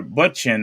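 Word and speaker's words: Bündchen: For Butchin, I don't know how you pronounce that, but Bunchen. oh, so I said it right, Bunchin.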